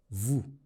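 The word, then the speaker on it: vous: no V that's because in French when a word ends in a consonant usually the consonant is silent the exceptions to this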